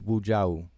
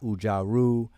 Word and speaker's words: Wu Jiao: It doesn't bother me one bit, but just so people can hear how it's pronounced, my name is Wu Jiao. All right, not Ujaru or Uja and stuff like that, and I'm not throwing no shade on anybody.